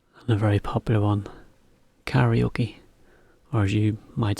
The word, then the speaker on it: karaoke: So it's slightly different pronunciation, but it's the same thing, same word, just we kind of say karaoke. So it's got a bit lost to the Japanese intonation. It's karaoke.